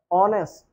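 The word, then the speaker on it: honest: अब यहाँ पे अब इसका देखना है, तो इसके उच्चारण में पहला अक्षर क्या आ रहा है, आ, है ना, ऑनेस्ट। तो पहला अक्षर क्या आया, आ। तो ये स्वर में से है, तो उच्चारण का पहला अक्षर अगर स्वर है तो क्या लगाते हैं, एन।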